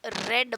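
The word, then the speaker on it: read: रीड, रेड, रेड, यहाँ पर आपको नोटिस करना है रीड, रेड प्रोनाउंसिएशन अलग है, रेड प्रोनाउंसिएशन अलग है. इसका प्रोनाउंसिएशन रीड है और सेकंड और थर्ड का रेड है.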